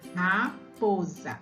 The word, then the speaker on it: raposa: esse é se tem Será que ele tem som de s mesmo não pro a gente percebe um som de z isso mesmo aqui na